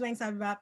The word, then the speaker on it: Wangsabib: um and can we get something from uh wang bebop did i get that right yeah that's actually the closest anyone's ever pronounced that off of first seeing it okay yeah my name is wayne sabab um i'm a cosplayer i've been cosplaying knowingly